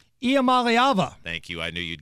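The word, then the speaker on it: Iamaleava: I can't say his name what's his name IAM malava thank you I knew you'd get that you're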